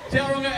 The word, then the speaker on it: Tauranga: I live here, so I know that you don't pronounce the G. Duh. You hung up, right? Let's know. And I'm back slightly out of pizza, mate. You were doing so well until we hung up. Tauranga, it has been amazing